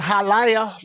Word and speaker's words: Hialeah: We shot this movie in Hialeah. Like, no, bitch, it's fucking Hialeah. It's an extra syllable.